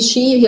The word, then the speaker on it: Xi Jinping: يعني مثلا احنا هنا الكلمه دي شي هي بادئه باكس, بس احنا عندنا مش هننطقها اكس مثلا, احنا لا هنقول شي لان هما ليهم نطق